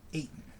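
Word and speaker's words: Ayton: there that is a simple name I can pronounce that DeAndre Aon eighton it's kind of an unusual last name isn't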